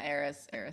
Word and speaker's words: Eris: Yeah, Eris.